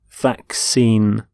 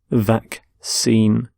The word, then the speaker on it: vaccine: a disease so vaccine note the pronunciation of vaccine the two c's in the middle the first c is the k sound the second c is the s sound vaccine vaccine and you can have